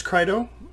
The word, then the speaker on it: Crito: people pronounce it Crito, some people pronounce it Crito. I believe it's Crito, but really I don't care how you pronounce it.